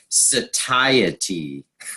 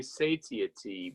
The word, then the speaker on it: satiety: all know it means being satiated but the pronunciations tricky like I just looked it up satiety I stumbled over that many times and I've